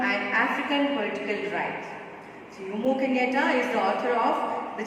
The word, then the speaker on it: Jomo Kenyatta: Though the spelling is Jomu, but we pronounce it as Jomo Kenyatta.